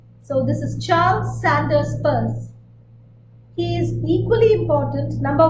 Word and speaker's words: Peirce: But if you read Daniel Chandler's Semiotics, the Basics, he says that this last name should be pronounced Peirce, the way you pronounce P-U-R-S-E. So this is Charles Sanders Peirce.